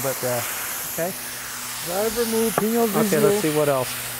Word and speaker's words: Pinot Grigio: Pinot Grigio, what is it? How do you say that? A Pinot Grigio.